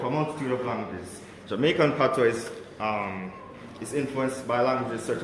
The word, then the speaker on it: patois: what is known as Patois, which is spelled P-A-T-O-I-S. So it's basically a French term, but pronounced differently.